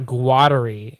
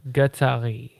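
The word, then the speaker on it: Guattari: if um and and it's not gwattery it's gatari gatari all right all right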